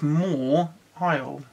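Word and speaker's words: Mawile: I'm gonna bring up Maui moly that's no one that said at all no it's more wild imagine that's a H between the ions W and then pronounce it like that more while okay I actually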